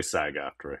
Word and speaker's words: SAG-AFTRA: We say SAG-AFTRA here.